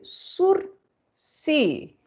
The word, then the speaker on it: sursis: pelo nome zinho de sursi vejam é uma palavra é uma palavra francesa surce então a gente não fala não se pronuncia ss né não tem